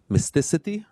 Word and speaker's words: Mysticeti: talk about their uh new consensus uh algorithm Mystic right that's the pronunciation amazing uh so yeah thank you George